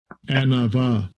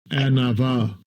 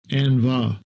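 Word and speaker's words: ענוה: Set the pronunciation. Strong's H 6038. Anava. Anava. Anava. Second entry. Anva.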